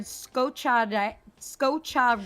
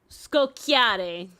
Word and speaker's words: scocciare: Coming from the Italian word scocciare. Yeah, Italian American. Scocciare. Scocciare. There we go. It would be scocchiare. Scocchiare. Yeah. Scocchiare. The pronunciation they're SCOCCIARE. giving me is in the middle. They're emphasizing the CHA, so I thought it was cha.